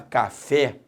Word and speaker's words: café: É claro que quando você fala café, a sílaba tônica é o fé.